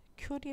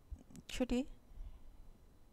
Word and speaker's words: Ci: 아 ci 라고 했어요 ci 는 그 다음 큐리 라고 읽어요 어 큐리 요거 없은 그 최초로